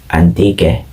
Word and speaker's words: Antique: influenced by the french recorded the region's name as hantik which was then read as antigue silent h the locals then pronounce the name into its present name antique culture the culture here